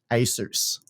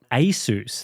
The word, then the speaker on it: Asus: would have thought Asus they say that the name Asus originates from Pegasus as in the winged horse from mythology now Pegasus Pegasus not Peg Asus that's right right so I would have thought that uh Asus is closer to the word Pegasus than Asus but it's just easier to